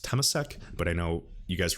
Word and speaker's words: Temasek: I believe it's pronounced Temasek, but I know you guys remember all the MAS stuff.